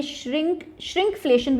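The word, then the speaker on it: shrinkflation: ये श्रिंकफ्लेशन भी कहते हैं इसको, ये एन नहीं आएगा बीच में, स्पेलिंग देख लेना, ठीक है।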